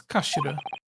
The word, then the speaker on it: kashira: end of the hill it's written in Japanese but it's pronounced as kashira kashi so Mr.